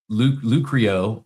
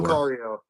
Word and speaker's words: Lucario: He may be making these names up just to get me to mispronounce something here, but he says like Rash Rashirum Lucrio or Gardavore. Lucario.